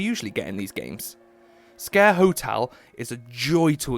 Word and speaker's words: Sker: Having your grand reopening of Scare Hotel, yes, it's pronounced a scare, because, you know, why